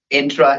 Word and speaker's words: Entra: that's a good feedback people cannot pronounce entra I've seen people talk about entra and we have been thought um intra as in Nissan Sentra so so that's how people know it's intra Tom how many years